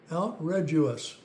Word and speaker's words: Outredgeous: and the French like this one it's called out r us and uh that's spelled o u t r e d o